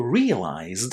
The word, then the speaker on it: realized: purchased is pronounced with the t sound at the end while realized is pronounced with the d sound there.